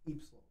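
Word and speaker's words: ípsilon: You know how you say Y in Portuguese? How do you say why? Ipsilon.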